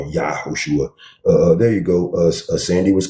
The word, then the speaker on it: Yehoshua: It is Yehoshua, not Jesus. Stop being lazy and train yourself to say his name, what it really is.